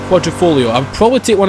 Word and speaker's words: Quadrifoglio: I think the G's silent, isn't it? Quadrifoglio.